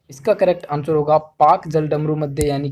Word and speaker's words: Palk: अब आपको पाक की स्पेलिंग याद रखनी है, PALK, ठीक है। पाल्क स्ट्रेट भी इसे कहा जाता है, लेकिन इसको पाक स्ट्रेट हम पढ़ेंगे, पाक जल डमरू मध्य।